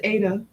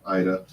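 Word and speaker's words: Aida: I thought it was Ada. No, Ida.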